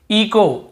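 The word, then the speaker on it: echo: हावर नहीं पढ़ना, आवर ही पढ़ेंगे, आवर, एच साइलेंट होगा। इको, इको, यहाँ पर भी एच, ईचो नहीं पढ़ेंगे, सी एच को चा पढ़ते हैं,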